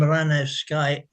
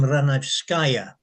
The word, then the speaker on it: Ranevskaya: So Madame Ranevskaya, it's Madame Ranevskaya. You hit the skaya at the end. I mean, it's written as Ranevsky often, but the ya is ya.